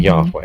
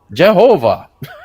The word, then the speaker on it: Yahweh: They're putting vowels from another word, Adoni or Adonai, underneath those consonants, and it's a signal to them to go, oh, I shouldn't pronounce this, and then they would replace it, usually with Adonai or with Hashem, which means the name. But it was so that they wouldn't end up accidentally pronouncing Oh, okay. Yahweh. That's why they did it. But the dumb German theologians are like, oh, Jehovah.